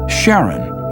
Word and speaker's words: Charon: in greek mythology but preferred to pronounce it sharon more like his wife's name charlene from the motions of